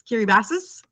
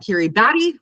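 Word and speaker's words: Kiribati: we would say K I R I B- A T I looks like Kiri Batty, but it's not.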